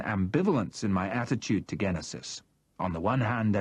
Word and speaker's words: Genesis: "Have you heard of any Genesis activity in the Atlantic?" I asked Alanbe, forcing myself to use the German pronunciation with its hard G.